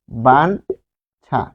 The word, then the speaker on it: বাঞ্ছা: এরপর আমরা আরেকটা দেখব, যে আরেকটা দ্বিতীয়টা ইয় যুগ ছ দিয়ে দেখি, যেমন বাঞ্ছনা, বাঞ্ছা, তাহলে এটি হবে বান ছা।